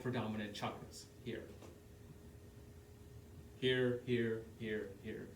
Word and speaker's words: chakra: The correct pronunciation is chakra, not chakra.